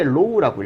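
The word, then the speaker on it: ρ: 얘가 밀도거든요. 읽을 때 low라고 읽어요.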